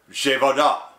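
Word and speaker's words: Przewodów: This happened after two men died when a missile fell on the Polish vessel of PRZWODO with an acute accent W, pronounced Zhevoda, near the Ukrainian border.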